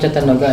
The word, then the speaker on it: Chatanoga: road V: And technically, Chatanoga itself is within the Sports Complex compound "Chatanoga" how do we pronounce that Cha-ta-NO-ga about the distance of the parking, it is the nearest one right?